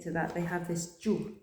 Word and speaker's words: giù: that, they have this ju sound. G-I-U. Soft G when there's an I following it. G-U, ju. And it rhymes with più. Più e giù.